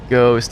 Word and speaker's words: ghost: The reason ghost has a silent H. Oh god, I never even thought about the word ghost. It shouldn't sound like a hard G. It should be host.